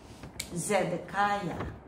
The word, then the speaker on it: Zedekiah: Zedekiah.